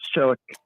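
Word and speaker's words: Čilić: at Wimbledon two Juan Martin del Porto Marin cilic Martin Pedrosa or Kevin Anderson um let's go Marin's Chuck is the pronunciation yeah it was it was Kevin Anderson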